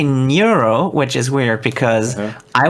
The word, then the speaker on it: Neuro: why japanese is mimicking that so he's actually pronounced niuro oh i see well that's how you gotta